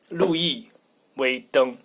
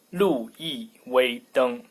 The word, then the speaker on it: 路易威登: Wow, there are so many pronunciations, but in Chinese, the correct one is 路易威登. 路易威登.